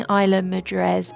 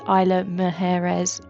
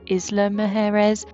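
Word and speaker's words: Isla Mujeres: sorry for my mispronunciation I've been saying Isa mrees but it's Isa mes or Isla mes the roundtrip Ferry tickets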